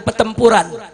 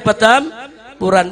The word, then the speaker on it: Petamburan: Itu namanya bacanya Petampuran, bukan Petempuran.